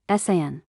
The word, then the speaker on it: Cyan: She pronounced it like the color, Cyan.